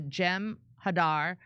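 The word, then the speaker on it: Jem'Hadar: just look up the gem Hadar pronounced with short A's thank you Ventus Prem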